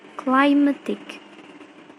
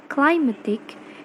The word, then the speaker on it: climatic: For example, in the word climatic, that comes from a word climate, has a primary stress in the first syllable. Kemudian mendapatkan imbuhan ic yang menjadi kata climatic, yang membuat primary stressnya berpindah ke syllable yang berbeda, yaitu may.